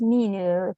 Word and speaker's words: Minu: Yeah, I'm also known as Minu. Thank you, Len. Hi. I was going to say, I've never felt this included in. No. How do you say your name? You're saying it wrong. Oh, say your name again. but I'm also known as Minu. Oh, Minu. I've been saying Mino all this time.